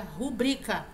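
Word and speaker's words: rubrica: sua assinatura né abreviada a palavra ela não é proparoxítona a sílaba tônica não é Rua abrir então a pronúncia correta seria rubrika in test in terceira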